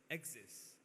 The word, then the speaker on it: Axis: Have any of you all noticed when you take the 3 letters X, Y, and Z, they pronounce the same name as Axis. Axis, Axis. So X, Y, Z, pronounced as Axis.